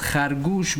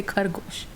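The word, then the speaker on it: خرگوش: Yes, it's khargoosh, but it's gonna be hard to pronounce the khe. So but we say the easier way. We just say khargo. No, we say khargoosh.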